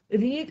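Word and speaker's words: read: the object was being रीड का क्या हो जाएगा बच्चों थर्ड फॉर्म रेड प्रोनंसिएशन क्या होता है रेड स्पेलिंग क्या रहती है आर ई ए डी by someone आपको लिखना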